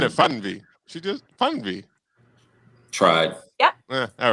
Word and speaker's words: Fernweh: IG is Fernweh BG.